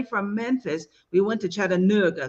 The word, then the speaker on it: Chattanooga: One of the things I loved about being away from Memphis, we went to Chattanooga, because that's how they say it, not Chattanooga, Chattanooga.